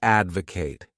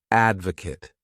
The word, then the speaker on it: advocate: The next wonderful verb is to advocate. This word has 3 syllables, and the stress is on that first syllable, advocate.